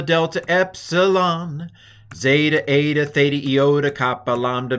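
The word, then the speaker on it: ζῆτα: Then we have zeta, z. I'm going to do it as a dz in the middle of a word, baptizo, z. At the beginning of a word, I'm just going to pronounce it with a z, zebra, which is not a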